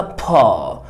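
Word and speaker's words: paw: قدم الحيوان، اسمها بالانجليزي بو. لو احنا هننطقها بريطاني بو بو بو، بي اي دبليو، بو بو بو بو. اما لو هننطقها امريكان فاحنا هنقولها با با، يبقى بو با بو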